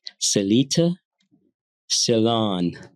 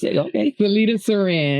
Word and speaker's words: Cellita Ceran: Today I'm fortunate to have my guest, Miss Celita Salon. Did I pronounce it right? Was that right? You were close. Celita Saran. Celita Saran.